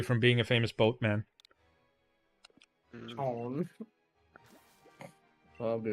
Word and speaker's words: CHAON: There's a guy a few weeks who said his name was CHAON, pronounced like Sean.